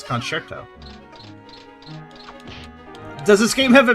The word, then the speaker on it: concerto: thanks to this game some people say concerto that's not how you say it's concerto does this game have a musical theme and that's why it's called tail concerto not really the fact